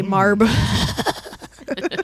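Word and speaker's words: Marbh: The H is silent. What, you never seen a silent H before? At the end? That just, okay, whatever. It's Marb.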